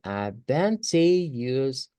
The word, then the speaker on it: advantageous: vamos a poner más fuerza en el T, porque de hecho esa es la sílaba tónica, es la que se tiene que escuchar más. Entonces tenemos que decir advantageous, advantageous.